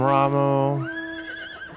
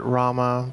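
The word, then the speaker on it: Ramuh: This is from Ramu. I always pronounced it Rama because UH makes the sound, not the oo sound.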